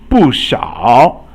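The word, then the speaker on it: 不少: 不少 means not many, so fourth tone and then third tone.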